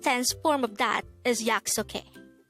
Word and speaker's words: 약속해: okay yeah it's okay this is pronounced as the three syllable word the first syllable is yak second syllable is and the third syllable is hey pronounce it with me the word yaksuke is the action of